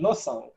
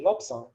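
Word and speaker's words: Lobsang: likewise with this one cleanly would say losang yeah but it's quite common also for tibetans to say lobson yeah to pronounce that ba and say lobson similarly with a gyatso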